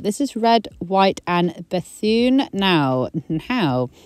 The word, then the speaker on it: Bethune: is red white and Bethune now now pronunciation Amy I thought it was Bethune it might very well be I have had to look it up several times and it's bassoon bassoon Bethune either way I have